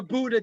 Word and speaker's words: Buda: that anybody people are flying in, okay, to Buda, Texas, on May the 1st. Is that how you say it? Buda, Texas? Am I saying it right? Yeah, Yes, Buda, Texas.